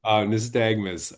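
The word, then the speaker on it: nystagmus: nistagmus nagmus thank you thank you nistagmus Um, so fantastic.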